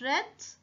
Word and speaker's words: read: So it will be I read. It is pronounced read, but it is spelled R-E-A-D.